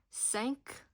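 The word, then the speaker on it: cinq: Sank you pronounce the Q as a K.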